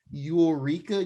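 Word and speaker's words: Yooreka: something some company named eureka games i've never heard them it's not even spelled like eureka it's spelled like y o o r e k a game ain't got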